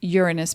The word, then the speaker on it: Uranus: clear uranus is pronounced uranus because it's a greek word that was my first language and the word is urano and it means cosmos thank you little lesson